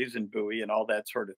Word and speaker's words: Bowie: Louisiana is French-speaking territory, and you would pronounce Bowie Bowie there. Mm-hmm. So I presume that's how we got to Bowie and how it became the standard.